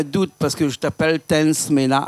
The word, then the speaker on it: Tence Mena: Mais comme au Madagascar, on ne prononce pas le A, c'est Tansmen. Non, c'est pas ça? Non, c'est Tansmena. On m'appelle toujours Tansmena. Non, c'est bien. Mais Richard, il est un malgache, il me dit non, il ne faut pas prononcer le A à la fin.